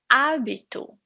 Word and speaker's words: hábito: "Hábito" ("Habit"), just the "A" sound, not the "H" sound.